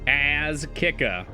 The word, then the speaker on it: Az Kika: Pronounce his name out loud to yourself. That's Az Kika. It's a pun name. His name is a pun for ass kicker.